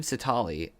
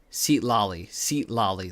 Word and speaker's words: Sitali: By the time Sitali... Gosh, I feel like I keep saying that name wrong.